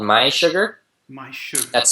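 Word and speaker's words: mySugr: um a company called my sugar my sugar that's spelled m s u r so it's like my sugar but there's no second there's no a in Sugar oh I see okay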